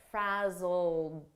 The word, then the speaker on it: frazzled: past simple Ed verb but the pronunciation is a very soft D and you almost don't hear it frazzled very soft frazzled frazzled